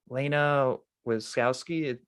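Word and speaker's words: Lana Wachowski: and even because even the like director um laina wiskowski that's how you say her name she didn't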